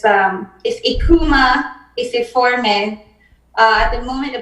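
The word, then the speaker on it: Eucheuma: And I kept thinking about the word Ekuma. And then I said, it's spelled E-U-C-H-E-U-M-A. And then I said, oh, in Creole, phonetically, that would be I-K-O-O-M-A. Yeah. Ekuma.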